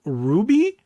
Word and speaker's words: RWBY: you really feel oh it's he said it's pronounced Ru Ruby Ruby R WB y oh kind of like